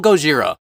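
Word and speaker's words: ゴジラ: just Godzilla either have you heard how they pronounce his name in Japan Godzilla that's right it's still goira they never stopped calling him that and repainted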